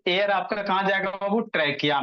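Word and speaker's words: trachea: ये जो आपको लॉन्ग ट्यूब जैसा स्ट्रक्चर दिख रहा है इसी को क्या कहोगे ट्रैकिया कहोगे इसी को क्या कहोगे ट्रैकिया स्पेलिंग याद रखिएगा प्रोनंसिएशन याद कीजिएगा ट्रैकिया टैिया नहीं पढ़िए ट्रैकिया है ये जो ट्रैकिया भोला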